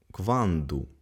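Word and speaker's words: quando: бразіл наступне питальне слово кванду коли кванду тобто тут звук д Так є кванду скільки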